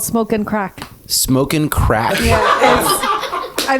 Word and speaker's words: craic: crack is spelled CRAIC, as in fun, not the drug.